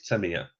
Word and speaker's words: Tamiya: He said the correct way of saying it is Tamiya. You have to say it like that.